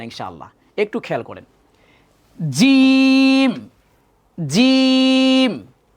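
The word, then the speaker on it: ج: জিম কিন্তু শক্ত হবে। এই যে আমরা পড়ি না আউযু বিল্লাহি মিনাশ শাইতানির রাজিম, রাজিম শক্ত। রাজিম যদি কেউ পড়ি সেটাও ভুল উচ্চারণ, জিমকে জিমের উচ্চারণটাই করতে হবে।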